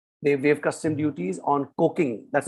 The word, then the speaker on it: coking: petrol and diesel they have custom duties on coking that's not a spelling mistake that's the way it's pronounced it seems like you're from the engineering